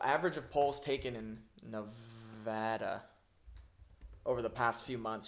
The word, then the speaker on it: Nevada: but it says apparently the only acceptable pronunciation of the state is Nevada not Nevada pronouncing the state's name incorrectly